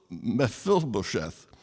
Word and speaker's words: Mephibosheth: He finds a man's name called Mephibosheth, which is pretty much what we had before. I may have missed a syllable or two there. Mephibosheth.